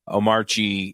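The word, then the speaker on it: Omarchy: But Omari, it's it was funny cuz he says, "Yeah, when I when I switched over, I started using Iuntu."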